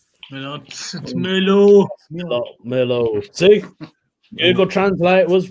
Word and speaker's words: Merlot: It's Merlot.